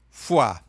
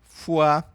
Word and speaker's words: foi: Aqui no finzinho você vai fazer o biquinho, tá? Essas duas vogais aqui a gente vai fazer o biquinho. Die la foi a segunda é fu significa fígado. Fuá.